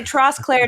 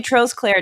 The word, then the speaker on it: Trosclair: like we we call you I'm we say trust Claire no we say trolls Claire down here so I wasn't I wasn't going